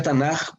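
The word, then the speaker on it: Tanakh: el canon hebreo se llama estándar y se pronuncia tana porque es el comienzo de las tres divisiones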